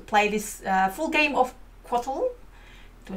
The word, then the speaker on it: Cóatl: So after Taryn's explanation, we're gonna do to play this full game of Cóatl.